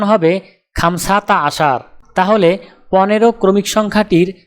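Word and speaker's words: خمسة: আরবি ক্রমিক সংখ্যা 5 দেখতে এরকম, উচ্চারণ হবে খামসা।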